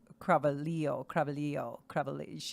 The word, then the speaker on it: Cravalho: Oh, and by the way, though, it is Cravalho. That's because The Rock was pronouncing it the way you are, Phil, and she corrected him.